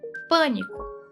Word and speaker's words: pânico: proparoxítonas, sílaba tônica na antepenúltima posição, por exemplo, pânico.